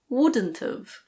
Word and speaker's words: wouldn't've: Would not have becomes wouldn't've.